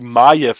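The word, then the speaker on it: Maiev: jede mögliche Unterstützung also ich hätte niemals gedacht dass sie majev ausgesprochen wird bei der Schreibweise für mich ist und bleibt sie Möwe ne also nicht Mayo oder maev sondern Möwe so Kapitel 5 Gleichgewicht der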